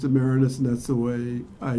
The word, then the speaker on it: Maraniss: My father has always pronounced it Maraniss, and that's the way I do, and Andrew and everyone else in the family now.